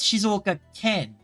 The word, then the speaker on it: 静岡県: 静岡県 It says it as Shizuoka Ken. Kan. You're right. I should be saying it as Kine rather than Ken. I guess I was saying it as Shizuoka Kan rather than Shizuoka Ken.